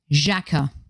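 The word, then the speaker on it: Xhaka: imagination and people that word that rhymes with lacquer and sakura that's right jacka be careful what you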